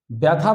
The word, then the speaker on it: ব্যথা: ব্যথা বানানে বৈজফলা আর থয় আকার ব্যথা, কিন্তু আমরা উচ্চারণ করি ব্যথা, তখন বৈজফলা আকার হয়ে গেছে।